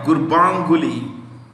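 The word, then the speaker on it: Gurbanguly: r b a n g u l y gurbanguli verdi muhammadum b e r d i m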